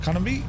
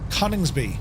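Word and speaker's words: Coningsby: Battle of Britain Memorial flight up to RAF Connby or Conningsby. How do you pronounce it? Straight up here, Murf. He's now Conningsby.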